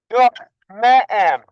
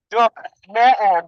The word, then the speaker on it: Duk Me'em: And that name is pronounced Duk Me'em. Duk Me'em means wave.